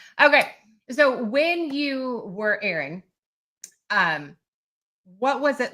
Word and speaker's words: Aaron: spelled the same pronounced Aaron. Yes. So I always tell people two two A's. That's like the long A sound. So I I would say Aaron.